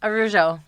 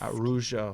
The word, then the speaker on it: Araujo: Araujo. Araujo. I The know the second A is silent, so it's just Araujo. Araujo.